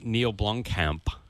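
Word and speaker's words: Neill Blomkamp: And other Not Real Movie news, Neil Blomkamp.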